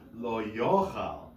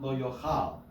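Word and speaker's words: יֹאכַל: Ooh, lo yochal, right? Not lo yochal. See how the trope, we need to get used to this, is that the trope shows you where the accented syllable is. In this case, it's on the yo, right?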